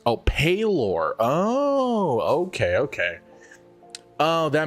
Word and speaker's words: Pelor: Pelor's cleric is a cleric deity pronounced Oh, Palor.